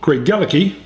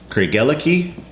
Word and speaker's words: Craigellachie: Today we're going to be reviewing Craigellachie, which is the Kansas pronunciation, and this beautiful collector's box, which actually has 2 scotches in it.